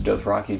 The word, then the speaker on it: Dothraki: an entirely new creation I interpreted how I thought george RR martin one of these things pronounced and then did something to reflect that though I apparently got it wrong he pronounces Dothraki Dothraki he records every line